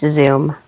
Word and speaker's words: Zume: no oow over the U but it is pronounced Zoom okay so Zoom Pizza uh what would you say makes Zoom